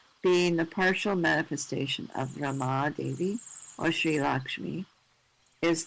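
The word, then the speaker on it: Ramā: Rama or lakshmi. So rama has a long a so feminine. Okay. We chant harama short a.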